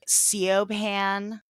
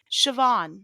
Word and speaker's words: Siobhan: You ever see that name that looks like Seopan? It's like s I Yeah. Do you know how to pronounce that? Siobhan.